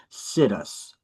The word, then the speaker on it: situs: say, we're going to sit us right here. That's how I pronounce it. That's why I mispronounce it as situs. But it's really pronounced situs.